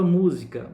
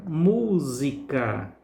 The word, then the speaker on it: música: a sílaba tônica e a palavra música música música é a sílaba que nós pronunciamos com mais força com mais intensidade daí é a sílaba tônica as restantes sílabas de